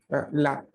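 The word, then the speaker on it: là: Cuando tenemos esta preposición de lugar, la, vamos a intentar abrir la boca un poco más, ¿no? Porque la A es abierta en este caso, ¿no? El acento en este caso agudo hace referencia a una abertura de la boca un poquito más de lo normal, justamente para poder reproducir este sonido, ¿no? No, no es la, sino la.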